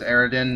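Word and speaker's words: Eridium: gun well yeah but the apparent proper term is eredin which if you actually look at the word it kind of makes sense that it's pronounced eredin instead of meridian i guess either is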